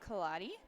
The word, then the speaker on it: Kaladi: So we have today and tomorrow, we have an event donor, I think it's pronounced Kaladi.